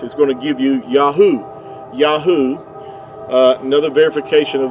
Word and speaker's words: Yahuah: So, you didn't need the vow points to get the Yahoo pronunciation. They're they're spelled with the the the modern Hebrew, the the three letters. Uh Yahoo would give you the sound. Um these three letters here the ye the yod yad and the he and the ua would give you yahoo and uh even Benjamin